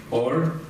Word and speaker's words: Orr: My first one is for Orr.